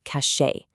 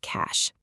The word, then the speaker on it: cache: but the pronunciation is a super simple single syllable word rhyming with cash. A really common trap for non-native speakers is pronouncing it as the two-syllable cachet.